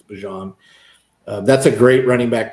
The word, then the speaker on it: Bijan: Pardon me, he asked us to call him Bijan. That's just how you pronounce it. He was interviewed recently. It's Bijan.